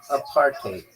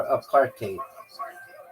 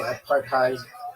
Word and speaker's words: apartheid: It's pronounced a partate or a partate with a bit of a Dutch style hide at the end like height with a D.